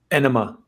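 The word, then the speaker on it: Ænima: Enema. It is Enema. Okay. Yeah. The joke being like, the double entendre, of course. It's like anima. It looks like anima, but it's actually enema, getting an enema.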